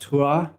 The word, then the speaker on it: Tours: And there's a part where I'm talking about, I think it's pronounced Tours in France. It's spelled Taur-ers, Tours, but that means tower in French.